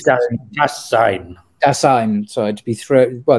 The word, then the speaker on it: Dasein: It's a design, I'm going to pronounce it properly. Design? I think it's design. Dasein, sorry, to be thrown, well, the idea, well, anyway, that's a different subject, but yeah.